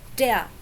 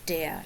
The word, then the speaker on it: der: notice that you don't really hear the R at the end of der. We don't say der or der. In a way, we do it like the Brits. You know, the Brits, they don't pronounce the R at the end of a syllable either.